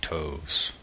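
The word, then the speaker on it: toves: how to pronounce slyy toes the eye in slyy is long as in Ry and Toes is pronounced so as to rhyme with Groves again the first o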